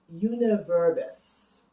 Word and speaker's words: jeneverbes: Juniper berries in Dutch is pronounced Jeneverbes, and thus the name Jenever.